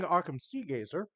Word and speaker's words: Arkham Seagazer: continent altogether, under King Arkham Seagazer, How spell that? Arkham Seagazer? Like Arkham Yeah, from Arkham Asylum, but Arkham and then Seagazer, yeah, Seagazer.